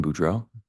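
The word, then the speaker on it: Boudreau: morning morning can you state your name and spell it for the record my name is budro b r a n d o n Buro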